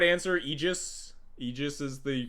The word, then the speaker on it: Aegis: Eegis is the correct pronunciation. So the correct incorrect pronunciation where I like to say ae would be agis.